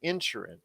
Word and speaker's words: Inisherin: All Quiet on the Western Front, Avatar: The Way of Water, The Banshees of, I know it's spelled Inisherin, but they pronounce it in the movie Insherin.